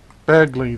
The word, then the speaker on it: Bagley: Bagley, that's how it's pronounced.